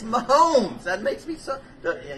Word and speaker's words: Mahomes: not my Holmes yeah come on man it's my Holmes that makes me sucker yeah you know I